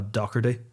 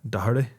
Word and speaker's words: Doherty: He's also a disgrace to a fucking beautiful Irish name, but they say it in like the weird British way. They're like, oh, Doherty. I think they say it like Doherty. Yeah, something like that. Yeah. Well, how are you supposed to say it? Doherty.